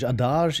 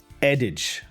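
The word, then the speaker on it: adage: and adash or I I always want to say it French. Adash is like add and fridge. So addage. So that's the word.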